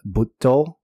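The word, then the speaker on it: Butoh: sort of dancing there's dancing in Japanese called BTO b u tt o and that's a long o that can also be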